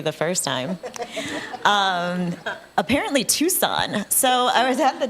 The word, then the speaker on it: Tucson: It's T-U-C, Tucson.